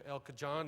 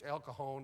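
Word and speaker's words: El Cajon: I'm going said, "I'm going to Elka John and and San Josie." She said, "Out here?" We pronounce that J like an H. It's Elkahon in San Jose.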